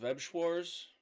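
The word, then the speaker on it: Weiß Schwarz: Maybe it's was it Webschwars? That's how it's pronounced.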